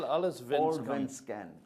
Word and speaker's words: Allsvenskan: Allsvenskan.